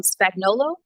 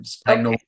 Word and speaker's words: Spagnolo: Um Spagnolo that's the best way to say it. No it's the phonetical way to say it right but Spagnolo most my family says it.